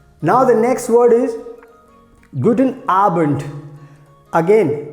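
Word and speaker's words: Guten Abend: the next word is good in arbent again this d will be pronounced like t so good in arbent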